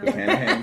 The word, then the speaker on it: Buchanan's: saying it right, Buchanan. I put like an extra H in there first. Buchanan's. No, Buchanan's.